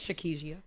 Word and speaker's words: Shakisha: And I was saying her name wrong, y'all, last episode. Thank y'all to the people who reached out. I didn't know no one had ever said her name She before. also, before? she's Shakisha. yeah, we were butchering it.